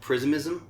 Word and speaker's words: Prismism: And this is the first UK tour for, I'm going to get this completely wrong, Prismism? Is that how you say it?